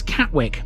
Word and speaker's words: Catwick: four letters w-i-c-k and sometimes in the East Riding that's pronounced Wick in other cases it's ick it's omits the W